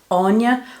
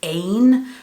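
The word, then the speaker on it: Áine: pronounce this word as ane so i don't know what was the intent here but just in terms of in ireland we pronounce that word anya because it is an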